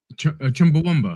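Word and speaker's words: Chumbawamba: How do you say that band's name? Chumba womba. Chumba. That's it. That's it.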